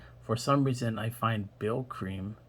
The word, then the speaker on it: Brylcreem: some reason i find bill cream brill cream so it's spelled b r y l c c-r-e-e-m braille cream captures um that perfectly